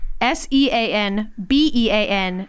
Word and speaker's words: Sean Bean: BALOGNA rhyme, but SEANBEAN doesn't?